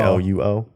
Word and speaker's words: Luo: you want to follow me, it's just Luo. People used to like to switch the OU, but it's actually LUO. Yeah. how do you pronounce that in the Asian way?